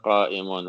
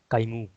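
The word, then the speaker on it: قائمٌ: Anta qa'imun. Very good. Who said that? Sheikh, I made a mistake. I didn't pronounce the noon. I said kaimu.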